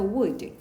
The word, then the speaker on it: would: would. 캔의 과거 could랑 비슷하다 그치? O-U-L-E 들어가는데 요때 L 참고로 발음 안 돼요. 그래서 could, would 이렇게 읽죠.